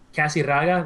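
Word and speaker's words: Casirraga: Casiraga, that's C-A, I want to say 1S, might be 2, but whatever, we'll go with 1.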